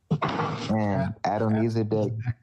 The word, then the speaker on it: Adonizedek: Adonizedek.